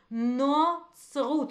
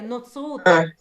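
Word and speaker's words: נצרות: Notzrut. We don't see the O, but it's there. Notzrut.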